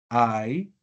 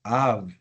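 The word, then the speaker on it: ָיו: La pronunciación no va a ser como presumiblemente decíamos al inicio, ay, sino que va a ser av. ¿Por qué? En este caso la iod funciona como una madre lectura.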